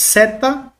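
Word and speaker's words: ζῆτα: atenção, se escreve assim, mas o som dela, por mais que nós temos aqui transliterado no Z no português, o som não tem o som de Z, pelo menos aqui na gramática do Estelio-Rega. Ele vai trabalhar com o som de DS, DS, tá?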